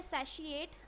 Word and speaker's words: satiate: और एक वर्ड है सैशिएट, आप इसको भी यूज़ कर सकते हो, ठीक है।